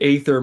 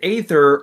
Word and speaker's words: aether: Yes, I know, listener, that it's pronounced ether in game, but you know what? I've said aether my entire life and I don't feel like stopping.